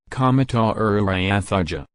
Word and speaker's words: Comodoro Rivadavia: Comodoro Rivadavia, Spanish pronunciation, Comodoro Rivadavia, is a city in the Patagonian province of